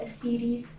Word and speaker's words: ascites: And that swelling is called ascites. Some people pronounce it ascites.